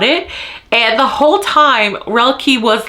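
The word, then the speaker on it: Roelke: next POV is her boyfriend um uh it's pronounced Ry and it's spelled r o c l k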